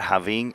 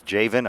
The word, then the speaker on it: Javin: pronunciation of his name it's not jaing it's Javin I won't make that mistake